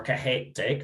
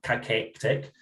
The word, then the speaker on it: cachexic: know, I would think are cachectic or cachexic, as you've taught me how to say it.